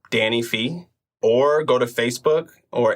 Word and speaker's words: Phee: So D-A-N-N-Y is my first name, Danny, and my last name is Phee, which is P-H-E-E.